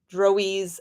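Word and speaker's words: Drouiz: are and I'm probably going to change my mind how to pronounce this over and over uh droes d r o u i z drise elves they populate uh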